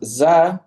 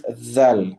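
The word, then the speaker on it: ظ: And then the dha, a lot of people will pronounce it as za, okay. For example, wallahu la yahdi al-qawm al-zalimin. This is incorrect, okay.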